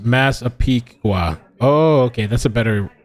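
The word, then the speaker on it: Massapequa: Okay, Jackie says it's pronounced Masapiqua.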